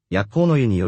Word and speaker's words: Yahho-no-Yu: soak after packing up so we stopped by Yahho-no-Yu (pronounced “yahhō”) We took our time enjoying the baths